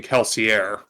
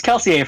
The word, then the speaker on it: Kelsier: Even if I was thinking of using Kelsier. I believe the R is silent, but Regardless, a full Mistborn would probably body most standard magic users.